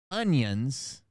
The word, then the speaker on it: onions: I've been pronouncing the vegetable onions or onion with a G in it. And I just realized it today that I've been saying it my whole fucking life. It's ONIONS, onions, that I've been saying